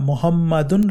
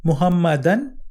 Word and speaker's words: Muhammad: ilaha illallah Muhammadun Rasulullah, the name Muhammad is pronounced a little differently. So we added the extra sound un. Sometimes you may also hear Muhammadan with un sound at the end, or Muhammadin with a in sound at the end. Lots of names and words in Arabic have sounds un, an, in are added to them when they are in certain places in sentences.